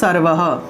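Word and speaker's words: সর্বঃ: সর্ব আর বিসর্গ আছে, তাহলে এটা উচ্চারণ হবে সর্বহ সর্ব হ, অর্থাৎ বিসর্গের উচ্চারণ হলো হ, বিসর্গের উচ্চারণ হলো হ, ঠিক আছে।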